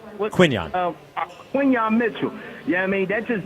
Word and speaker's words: Quinyon Mitchell: and if he's doing that just gave me visions of Quentin Mitchell. How did I say his name right? Quinyon. Quinyon Mitchell.